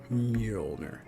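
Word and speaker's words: Mjölnir: And Mjolnir, I think that's how you pronounce it. For any football fans, just pronounce it sort of like James Milner, but Mjolnir.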